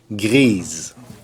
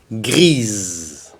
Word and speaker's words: grise: Là, il faut prononcer le S parce que c'est plus la dernière lettre. La dernière lettre, c'est le E. Donc, grise.